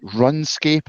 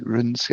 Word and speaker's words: RuneScape: Is it like Runscape or something? It's called like Runescape.